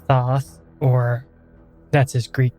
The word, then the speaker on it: Thoth: I know that there's plenty of different ways to pronounce his name uh tote taught uh like there's so many um when I was growing up a little kid reading about Egypt researching it all on my own because that's just the kind of kid I was in my head it was pronounced Thoth so whenever I mentioned him throughout this entire series I'm gonna say Thoth because that's how I like to pronounce it or I might